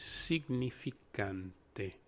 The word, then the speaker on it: significante: of the sig s-i-g the proper spanish pronunciation you would pronounce the s-i similar to the word c like i can see very far with my glasses and you would add the g it becomes seig the ni becomes knee like your knee the